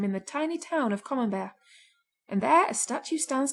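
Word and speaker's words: Camembert: brie and with oysters common bear should be eaten only in the r months and of these September is the best since common Bear rhymes with beware if you can't get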